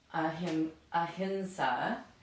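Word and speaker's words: ahiṃsā: My hunch is that when we transliterate ahinsa, right?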